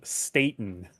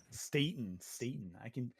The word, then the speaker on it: Staten: Before Yeah, and say his name right this time, Joseph Staten. Staten. I can pronunciate names sometimes.